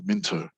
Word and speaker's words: Minto: in this place called Minto. Now, officially Minto spelled M-I-N-T-O, but growing up it wasn't pronounced that way. It was pronounced M-I-N-N-O.